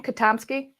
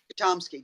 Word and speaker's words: Kotomski: that's really exciting yes is that how we say your last name khatam ski chomsky just like a big yay well hello